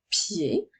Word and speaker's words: pied: Le mot pied s'écrit P, Y, I, E. Le son E s'écrit E, D, même s'il n'y a pas d'accent sur la lettre E. La lettre D est une lettre muette.